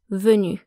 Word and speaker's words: venu: Remember though that these do not affect pronunciation, so whether you add the E or the S, or nothing at all, venu is still pronounced venu.